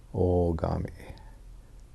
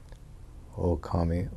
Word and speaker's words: Ogami: Because the Chinese character of our name is correctly pronounced Ogami.